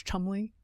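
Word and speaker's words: Cholmondeley: Lady Rose Chumley. Is that right? Is that Yes. her name? It's said. It's spelled very differently than that.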